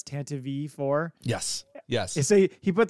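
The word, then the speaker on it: Tantive IV: us talking about the citation of how you pronounce tantive four? It's tantive four.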